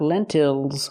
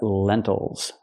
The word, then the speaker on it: lentils: and these are lentils not lentils but lentils again distress is on the first syllable so we do not say ill we say oh that syllable is not stressed these are green lentils